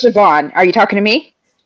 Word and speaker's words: Siobhan: It's Siobhan. Are you talking to me? Yeah, there. Yeah. Yep. Me? Hello? What's up? What'd you say? Hi. Saban, you said? Saban? It's Siobhan.